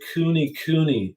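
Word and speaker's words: kunekune: there's a breed of pig that's called the kuni kuni it's spelled k-u-n-e-k-u-n-e and they're a smaller pig they're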